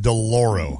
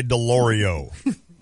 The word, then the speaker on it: DeLoro: Crossing phone line, and that's DeLoro. You said it right. All right. how you doing, man? Pretty good. How you guys? How many people say DeLorio? Too many.